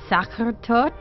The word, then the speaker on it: Sachertorte: It's called, I'm going to try to pronounce it, Sachertorte? Yeah, yes.